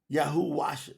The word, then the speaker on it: Yahuah: The W is a double U. So the ooh, that's why it's called a ooh. YAHUAH.